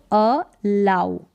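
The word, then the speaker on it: allow: ये है अ अ इसको लो नहीं पढ़ेंगे अ आऊ करके ओ डब्लू का उच्चारण है तो अ लाउ अलाउ अलाउ का मतलब सेम वही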